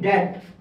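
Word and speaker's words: debt: দেওয়া হয়েছে that that যদি আপনি লেখেন ডি ই বি টি কিন্তু এটার উচ্চারণ হচ্ছে ডেথ এটা এসেছে মূলত বলা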